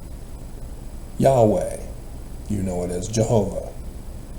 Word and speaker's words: Yahweh: completed his birth is given the new name Yahweh you know it is Jehovah it's not Jehovah